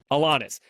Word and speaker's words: Alanis: Alanis.